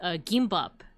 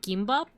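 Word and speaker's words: gimbap: Beans tried to make gimbop or how do you pronounce it? It's like gim. It's like between a K and a G sound, but we tried to make gimbop before.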